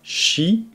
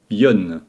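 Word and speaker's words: 四: Prenons le premier, donc 4. Shi veut dire mort en japonais. Et les japonais, étant très superstitieux, n'aiment pas utiliser ce mot. Donc ils vont utiliser tout simplement yon à la place.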